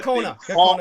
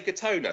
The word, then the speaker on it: Gakona: And like you said, you got Gakona in Alaska, which is where Gakona is how it's pronounced. Gakona. So go on. Yeah. Gakona. Sorry, what did I say? Did I say Gatona?